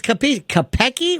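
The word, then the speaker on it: Capeci: I guess Jerry Kopecki of the New York Post. Oh, well, no, you mean the writer? Yeah. He still has a website called Gangland. No, it's Kopecki.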